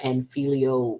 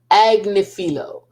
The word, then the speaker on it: Agnifilo: I don't know if I think Mr anilo or anilo but how now I'm screwing up this darn name how do you say that again I had it together I really did agnifilo uh I don't I